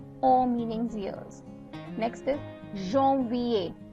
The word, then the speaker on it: janvier: Next is janvier. Janvier. So the AN, wherever there is AN, I'm pronouncing it as on.